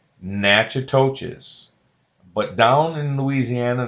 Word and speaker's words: Natchitoches: through a town called natchitoches but down in louisiana they pronounce it nagarosh nagadosh i don't know why